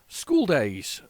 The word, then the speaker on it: Skool Daze: Skool Daze. Is it school but spelled like that? It is.